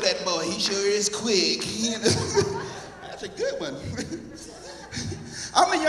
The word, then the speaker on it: Quick: name really is quick like video Bob said quick you ever met anybody named quick y'all just me yeah quick Q UI c k just like it's spelled man it it the